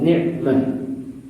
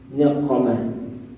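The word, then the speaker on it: نعمة: Ni'mah itu tengahnya ain, itu maknanya nikmat, sesuatu yang menyenangkan, nikmat, pemberian Allah Ta'ala, nikmat. Tapi kalau kita membacanya pakai qaf, niqamah, itu maknanya berbalik, maknanya bencana.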